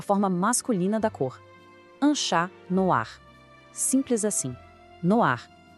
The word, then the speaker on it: noir: O e faz com que a gente pronuncie o r de um jeito mais claro. Ouve a comparação. No ar, no ar.